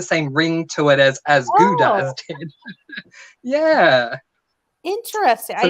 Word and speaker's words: Gouda: This particular cheese originates from the Netherlands, and it is pronounced as Gouda, but it wouldn't be the same to say As Gouda as Dead. It doesn't have the same ring to it as Gouda as Dead.